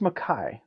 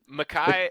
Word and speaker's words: Micah: uh is it Micah or Makai Bernard it's pronounced Makai Makai okay Makai and jaquin and Jackson are also a great